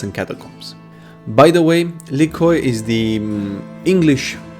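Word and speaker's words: Lykoi: tales of cats and catacombs by the way likhoy is the english pronunciation of the greek word liki which means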